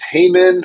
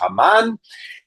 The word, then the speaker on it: Haman: His name is Hmon or in Hebrew it's pronounced Haman.